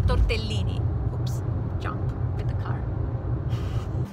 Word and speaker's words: tortellini: enjoy the famous tortellini the actual italian pronunciation is tortellini oops jump with the